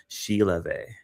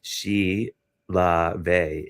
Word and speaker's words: Silbhe: So this name Silbhe is actually pronounced Shilave. Shilave. Wow. Yeah, yeah. BH is often a V, but SIL, I mean, it looks like it's just one syllable, but she la ve is actually right there in that name.